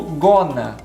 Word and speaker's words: going to: agora e olha só, o going to, para você pronunciá-lo de maneira mais rápida, você vai pronunciar como gonna, Você vai perceber isso em filmes, em desenhos, as pessoas falando no dia a dia, elas não vão pronunciar going to, vai pronunciar gonna.